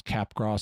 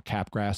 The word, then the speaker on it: Capgras: there's a condition and it gets pronounced differently uh it's pronounced sometimes capgras syndrome or capgras syndrome and it's where you